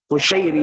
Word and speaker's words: Qushairi: Imam Muslim namanya adalah memang Muslim bin Hajjaj bin Muslim Al-Qushairi bidhamil qaf wa fath shin al-mu'jamah. Di qafnya di dhammah ya. Qushairi bacanya, dan shin al-mu'jamah. Shin mu'jamah itu shin yang ada titiknya.